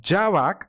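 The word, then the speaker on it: javac: class which includes the Java bite code and to compile we use the command Java c space hello. Java so Java C or javak as a it is often pronounced is the Java compiler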